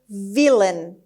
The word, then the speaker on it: villain: The third word is villain. villain. villain. خب villain استرس روی قسمت اول هست و A-I-N آخرش به شکل شوا تلفظ میشه.